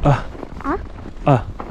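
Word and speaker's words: Æ: Она произносится как А. А? А. И я объясняю, как правильнее говорить. Это когда стон только грубый.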